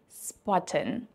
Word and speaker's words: spotten: Another important side note with the word spotten is that you definitely want to pronounce the SP like in English and not like in German, because there is the